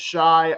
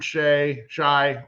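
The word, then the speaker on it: Shai: He pronounces it Shy, I believe, better defender this series.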